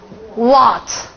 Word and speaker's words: What: 这念什么？What，是吧？What，还是念 What？